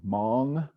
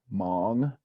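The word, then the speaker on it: maang: these bells sound be long a ah is heard in the word Mong like loon Mong that is a long a and it sounds like the word long in English that ah sound long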